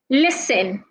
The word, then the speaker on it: listen: letters we have listen the T in this word is silent so make sure that you're saying the T sound you're not saying the T sound rather make sure you're not articulating the T sound so you say listen and not listen some